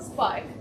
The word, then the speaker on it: Sparck: So I created something called Sparck, where the C is silent for connection silence.